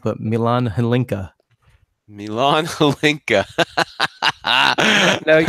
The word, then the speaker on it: Milan Hlinka: be thinking of, and I'm gonna get the name wrong. But Milan Hlinka. Milan Hlinka.